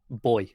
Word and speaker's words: buoy: How are you supposed to say it? Boy. Because it comes from buoyancy.